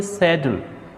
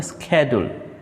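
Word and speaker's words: schedule: तापर जदि आम माने एक्सेंट कथा जदि विचार करिबा ब्रिटिश इंग्लिश रे आम कहते शेड्यूल किंतु अमेरिकन इंग्लिश रे कहते स्केड्यूल।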